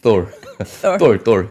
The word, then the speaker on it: Thor: 지금 엔비디아가 자동차 그리고 AI 로봇을 위한 차세대 프로세서인 Thor TH 말은 Thor. 예. 똘 블랙웰을 출시한다. 이거 잘 발음해야 될 것 같은데요. 똘이라고 하면 좀 그렇죠.